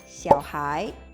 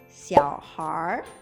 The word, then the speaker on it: 小孩: Sebutan anak berikutnya yaitu Xiaohai. Xiaohai. Xiaohai. Dengan pelafalan aksen Beijing juga bisa dibaca dengan Xiaohar yang secara literal artinya Xiao, kecil, Hai, anak, yang maksudnya anak atau anak kecil.